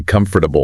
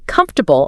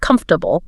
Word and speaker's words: comfortable: It's a long word, but in spoken English, we almost always swallow the middle syllables, right? You don't say comfortable. No. If you enunciate every syllable like that, you sound like a robot. You say comfortable or comfortable. It just flows.